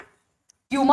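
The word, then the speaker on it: puma: Coming back, इसके अलावा 5 species के अलावा we have 2 other, Jaguar and प्यूमा, और इट is sometimes also pronounced as पूमा.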